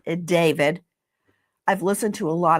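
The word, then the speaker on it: d4vd: It looks like D4 VD. It's David.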